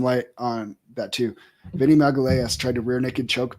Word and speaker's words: Magalhães: Yeah, he's Magalhães.